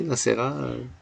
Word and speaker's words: Nacera: Est-ce que j'ai bien prononcé Nassera?